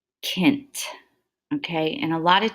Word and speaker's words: cent: at the first one and in Latin it's pronounced Kent okay and a lot of times the other